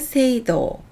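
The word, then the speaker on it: 聖堂: 성경을 세이쇼 세쇼라고 합니다 성당을 세이도 세이도라고 합니다 성인 성자는 음동만 있고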